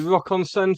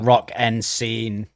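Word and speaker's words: Rock en Seine: I think it's pronounced Rock and Scene.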